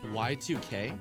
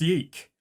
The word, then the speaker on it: YIIK: drops why two cake why two cake y2k y2k ah mum it's pronounced yike an act can pat